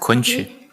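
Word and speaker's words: Kunqu: Is that how I've pronounced that? Kunchu.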